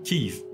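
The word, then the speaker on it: Kyiv: début de la guerre Kiev est la prononciation russe c'estd qu'en russe on dit Kiev en ukrainien pour dire Kiev on dit KIV euh ils utilisent une lettre que on sait pas prononcer parce que c'est une lettre qui n'existe que dans les langues slaves qui est entre le I et le E et euh eux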